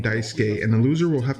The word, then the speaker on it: Daisuke: dice gay or bi Sookie I'm assuming it's pronounced Daisuke yeah the guy just said Daisuke so it's Daisuke we have Daisuke Ishi versus